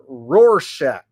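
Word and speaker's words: Rorschach: Local enterprise broadcasting says it's pronounced roarshack.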